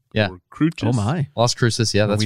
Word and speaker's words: Las Cruces: Las Cruces.